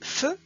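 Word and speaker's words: φ: cette série on a le film qui va se prononcer feu comme par exemple dans les mots français pharmacie physiothérapie physique on va écrire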